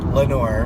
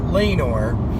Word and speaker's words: Lenore: in a town called Lenore Lenore Lenore is hell Eno re Lenore well that sounds right but some people would say lean or they've had the wrong